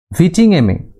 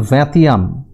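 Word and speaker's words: vingtième: তেলি, যার ফরাসি উচ্চারণ হচ্ছে তেই বা ভূমিকর; ক্যাপিটেশন, ফরাসি উচ্চারণ ক্যাপিতাশিও বা উৎপাদন কর; ভিটিংএমে ফরাসি উচ্চারণ ভ্যাতিয়াম বা আয়কর বা সম্পত্তি কর।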